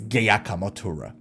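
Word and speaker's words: Giacomo Turra: Sorenzo, it's not Giacamo, it's Giacamo, but that's incorrect. That's the wrong pronunciation. The correct pronunciation of that name is Giacamo Turra. Okay, Giacamo. And Rick had him on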